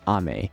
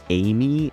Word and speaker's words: Ame: I have to say, the amount of people who made videos on this and pronounce Ame as Amy is kinda unreal to me.